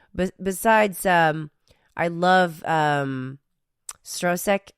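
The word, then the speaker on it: Stroszek: um I love um strosek how do you say that right stek strosek because that's how they pronounce that's how they pronounce it in the film but yeah I mean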